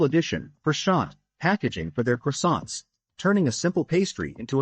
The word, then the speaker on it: croissant: It all began when content creator Aush Sopra humorously mispronounced Croissant as pashant in a viral video, capturing the attention of millions.